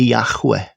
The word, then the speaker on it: Yahweh: O mais próximo que nós temos dessa pronúncia é Yahweh, né? Yahweh seria a pronúncia mais próxima do nome de Deus.